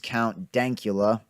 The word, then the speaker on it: Count Dankula: known on YouTube is count dank EULA and that that is important to get the pronunciation right there I've seen a few